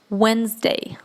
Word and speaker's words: Wednesday: В данном слове буква D, она у нас silent, то есть она глухая, да, ее мы не произносим в слове. Соответственно, D убираем и читаем Wednesday. Wednesday. Вот эта вторая буква И после буквы N в данном случае тоже не будет произноситься, да, не Wednesday, а Wednesday.